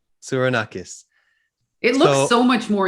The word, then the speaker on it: Tsourounakis: Tsourounakis. Tsourounakis.